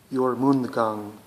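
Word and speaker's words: Jormundgand: moon mysticism norwegian gem helheim this one's called your moon the kang it's spelled j-o-r-m-u-n-d-g-a-n-d helheim h-e-l-h-e-i-m helheim is a norwegian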